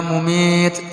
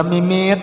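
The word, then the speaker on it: مميت: Allah dengan Al-Mumit, ya Mumit, ya Mumit, ya Mumit, yalah. Ini bujur-bujur membacanya lah. Ya Mumitu. Cuma diwakaf ya Mumit, yalah. Karena salah baca ya mimit ya lah.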